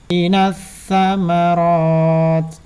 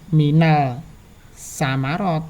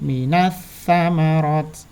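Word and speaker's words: مِنَ الثَّمَرَاتِ: Nah, ini minas samarot. Bukan minal samarot tapi minas samarot.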